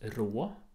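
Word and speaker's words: ρ: Det där uttalas rå.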